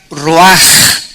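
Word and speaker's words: רוח: Esta palabra vientos es la palabra hebrea roach, que se pronuncia roaj. La ch en el hebreo se pronuncia como J y que es la palabra espíritus.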